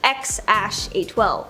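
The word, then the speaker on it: X Æ A-12: name is X something or apparently it's pronounced x812 the internet was Up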